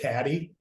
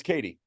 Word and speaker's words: Katie: Dude, I know I always call you Katie, but do you pronounce it Caddy? It's Katie.